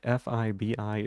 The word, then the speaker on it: Fibi: Phoebe, that Fibi is pronounced the same way as like the name um that it's pronounced the same way as like that.